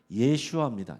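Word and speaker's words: ישוע: 예수라 하라 지정해 줬습니다 예수 이게 히브리식 발음하면 예슈아 예슈아 한번 따라해 보겠습니다 예슈아이 예아라 이름은 그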